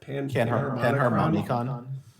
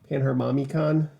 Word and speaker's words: Panharmonicon: Panharmonicon. Panharmonicon.